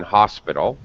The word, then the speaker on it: hospital: it you would read you would sound the h in hospital that's the background information